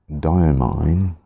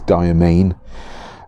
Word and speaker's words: Diamine: and this ink is dire mine domain however you want to pronounce it on I believe its domain my chemistry background just wants me to call it diamine I'm sure that's not what the company originally intended all those many many